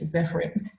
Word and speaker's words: Zephrin: So for quite a while, I tried to get people to say Zephrin. Like, I would tell them how to place like a different French accent on the E to make it sound like, you know, it would normally sound, you know, like the original name.